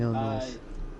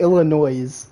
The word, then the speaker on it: Illinois: What about the one in Illinois? Holy Joseph. Now you're just doing Now you Loki, why did you call it Illinois with an S? It's Illinois.